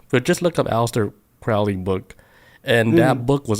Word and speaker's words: Crowley: so Crowley yeah Crowley or Crowley it's actually pronounced Crowley Cy yeah he the rumor is he never